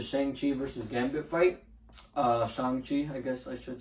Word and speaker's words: Shang-Chi: Uh Shang-Chi, I guess I should say that's how it's pronounced.